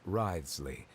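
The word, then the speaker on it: Wriothesley: personal dealings with the administrator of the Fortress ridesley reminds me that's how you say his name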